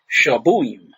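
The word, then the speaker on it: שבועים: The plural weeks is shabuim.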